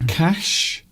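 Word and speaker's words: Kaş: We've been to cash, which sounds like many, but it isn't. It's spelt differently.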